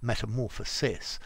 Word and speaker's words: metamorphosis: to distinguish from this metamorphosis which is pronounced sis as in sister system basically the same difference